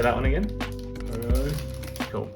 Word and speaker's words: Ho-Oh: Ho-Oh.